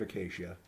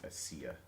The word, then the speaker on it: acacia: It's made of acacia. So, I had a friend that would always pronounce it Asia. well, he is wrong.